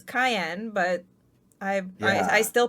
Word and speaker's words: Cyan: Like I that's how Yeah, it's supposed to pronounce as Cayenne, but I yeah. still pronounce it as Cyan because that's what I grew up with. I've always And said Cyan.